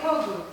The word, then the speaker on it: Kogut: Turns out I've been saying name wrong for years, and she only just told me a couple days ago. It's supposed to be a slight Just call me Kogu.